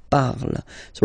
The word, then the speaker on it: parles: Then for tu, you will have to put es, okay, phonetically tu parles. So you've got the two first forms, you pronounce them the same way. You write them differently, of course, because you've got here, and then you've got and s, okay, but then phonetically they are the same.